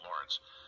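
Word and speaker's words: Lorenz: It's supposed to be pronounced like Lawrence, but it's L-O-R-E-N-Z.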